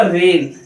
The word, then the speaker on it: reign: जी silent रहता है, जैसे REIGN, ये क्या हुआ, ये हुआ रेन, जी यहाँ पे साइलेंट है।